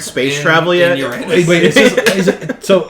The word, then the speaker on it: Uranus: Uranus. It's pronounced Uranus, alright? Well, I said Uranus.